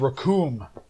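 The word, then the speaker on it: Recoome: video of him and raccoon his name rhymes with doom is up for pre-order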